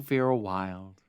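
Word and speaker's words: Wylde: And for that, you look for Vera Wild. Wild is spelled W-Y-L-D-E.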